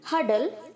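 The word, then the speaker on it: hurdle: है ओके है दिन हर्डल हरद हरद बहुत सारे बच्चे से हुगली बोलते हैं गलत प्रणाम से बच्चोंली नहीं होता है हर्डल होता है ओके हा के आगे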